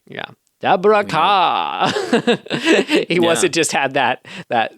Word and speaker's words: Kerr: So according to the trailer voice guy, looks like Kerr, sounds like Carr. He must be right. Yeah. Deborah Carr.